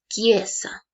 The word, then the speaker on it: chiesa: Si yo quiero pronunciar esta palabra en italiano, voy a escribir chiesa, pero voy a pronunciar chiesa.